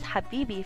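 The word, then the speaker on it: حبيبي: you've definitely heard before Habibi so to ly pronounce this word you need to make a very hard H sound like like you have eaten something really spicy so it's Habi which means my love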